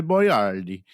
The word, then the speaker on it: Boiardi: him by his name his name was Ator boardi uh at to is